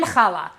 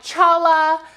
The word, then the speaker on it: challah: this word right here it looks like Chala but it's actually challah and there's kind of a guttural little in it and I am confident